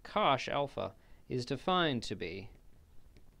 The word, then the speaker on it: cosh: for this we say Kosh the hyperbolic cosine you pronounce it Cosh Alpha is defined to